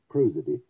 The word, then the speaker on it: prosody: a fair amount about prosody sometimes also pronounced cruiser D that is to say